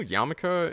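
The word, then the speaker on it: yarmulke: are they outside also did you know yamaka is uh like the traditional uh Jewish headwear um like that spelled like a spelling of it when it was first brought into English was why uh y a r m u l k e like Yul researching the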